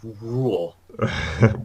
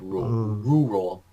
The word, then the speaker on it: rural: yeah be careful though be careful cuz it's not just like rule right cuz that would be this word rule it's not like rural rural flight so alright so